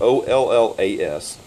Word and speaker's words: olla: how you pronounce it whether it's all your's or ollas it's olles and this is it